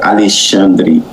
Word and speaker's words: Alexandre: And uh the right pronounce of my name is Alandre.